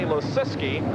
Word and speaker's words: Losiski: I think we pronounce this guy's name about as many ways as we can. We get the official word is Danny Losiski, and he finishes in